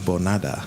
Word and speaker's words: Bonada: And our special guest for this week is Sheldon Bonada. Is that how you pronounce it?